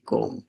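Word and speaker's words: comb: তোমার নাম লেখো এখানে সি ও এমবি কম কম মানে চিরনি সিও এম কম মানে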